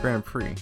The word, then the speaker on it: grand prix: grand prize oh didn't grand prix that's how it's pronounced right yeah yeah friend french because the x is silent held by the association